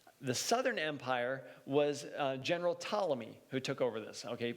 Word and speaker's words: Ptolemy: the northern empire the southern empire was general ptolemy who took over this okay p-t-o-l are you spell that okay ptolemy he's the only took over the southern empire